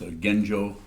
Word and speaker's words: Genjokoan: It's pronounced Genjokoan, it's actualizing the fundamental point.